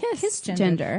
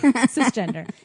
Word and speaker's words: cisgender: You pronounce the hard C, so it'd be kiss gender.